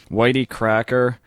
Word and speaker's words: YT Cracker: that I know of, Whitey Cracker. That's YT Cracker, just so you, in case anybody's looking, they don't try to actually spell it out.